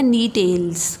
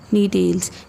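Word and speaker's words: Gnetales: Next हमारे पास जो इसका ऑर्डर है वो है नी टेल्स। कौन सा ऑर्डर है? नी टेल्स। फोर्थ मैंने बताया था बेटा जी इज साइलेंट, नी टेल्स।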